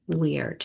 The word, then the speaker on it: wyrd: And it's an old English term and it's spelled uh w y d weird. And it's pronounced like we spell it here with we e i r d.